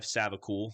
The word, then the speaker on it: Savacool: podcast I have amazing guests here uh Clive savacool if that if I pronounce that correctly is that how you pronounce